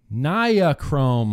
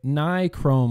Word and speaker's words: Nichrome: talked a lot about Niachrome wire, or as I call it, Niachrome wire, as normal people call it, Nichrome wire.